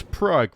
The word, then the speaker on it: Prague: It It is Prague, Red, but it's spelled Praa.